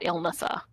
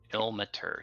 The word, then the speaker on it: Ilmater: Not Ilmatha. Nope. Ilmater.